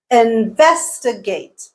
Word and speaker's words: investigate: Investigate, investigate. T is the stressed syllable.